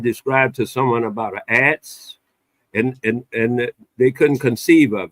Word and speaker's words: adze: How was it pronounced? Adze.